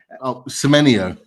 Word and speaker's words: Semenyo: How do you pronounce his name? Semyon, the right winger. Semenyo.